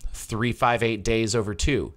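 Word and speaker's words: 358/2 Days: and recoded and um 3 58 days over two yes that's how it's pronounced okay it's 358 like divided by like a fraction two okay and then days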